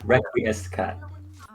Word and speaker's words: Requiescat: Requescacot, is that how you say it? Requiem Scott? It's yeah. Requiescat.